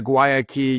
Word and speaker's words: Guayaki: here well let's begin with first of all pronouncing the name properly then can you do that for us yes it's it's a guayaki yerba mate guayaki ybba mate now I I